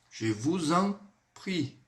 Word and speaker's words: je vous en prie: Je vous en prie. Eu vou ligar o S com o EN. E esse EN, pessoal, ele tem um som assim, ó. En. Je vous en prie.